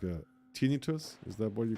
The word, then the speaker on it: tinnitus: Yep, tinnitus. Pronounced tin-I-tus. Right.